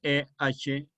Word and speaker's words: Ehrlich: luego Ehrlich, me parece que fue Ehrlich, que se escribe E-H-R-L-I-C-H, Ehrlich, alemán, el que luego a la alexina le llamó complemento.